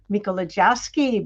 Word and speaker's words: Mikolojeski: We have Anthony Mikolojeski back on.